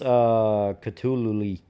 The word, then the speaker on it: Cthulhu: It's actually pronounced Cthulhu.